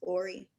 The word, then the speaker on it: Orly: Orly, I believe you're up next. Thank you everyone for having us here. It is pronounced Ori.